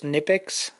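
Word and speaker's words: Knipex: I think the K is silent, so it's Nipix, made in the Harmony.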